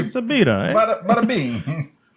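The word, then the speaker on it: birra: It's a bira.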